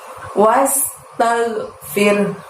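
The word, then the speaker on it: واستغفره: Semuanya pendek dan pada saat membaca ro sukun di situ kita tekan bunyi ro sukunnya lalu ikuti huruf h dengan suara rendah. Tagnya nggak usah dimantulkan ya, bukan kol-kolah ya teman-teman, ditahan. Fir. Nah, pada saat ngucapin firnya itu kita ikuti bunyi huruf H. Wastaghfir. Bisa, teman-teman? Firnya ikuti bunyi huruf H dengan suara rendah ya.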